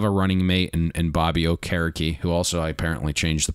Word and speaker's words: Okereke: Yes, he wanted to go to a more traditional African pronunciation last year, because I think all of us were calling him Okereke. So, to your point, it is now Okereke.